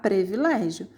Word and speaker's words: privilégio: lá na letra a a palavra privilégio na verdade se escreve privilégio não é um pré aqui que a gente tem que ter o costume de falar privilégio mas o certo é um privilégio é um ipm aqui